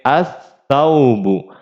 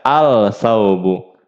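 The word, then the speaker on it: الثوب: Contoh yang kedua misalnya ta, ada di sini as-saubu, as-saubu. Nggak boleh kita baca al-saubu.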